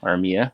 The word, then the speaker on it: Armia: And I thought it was hilarious that Joel Armia, that's what they're calling him now in Montreal. Well, he's from Finland. That's been his name. We just didn't say it right the whole time he was here.